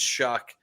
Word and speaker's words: Shough: It's not Show or Shuck. It's Shuck. I know it's spelled SHOUGH. Shuck. Shuck, pronounced Shuck, because I only know that.